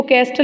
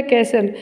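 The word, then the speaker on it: castle: कैसल, महल, इसको कैस्टल नहीं पढ़ेंगे, ऐसे इसमें साइलेंट होता है, कैसल.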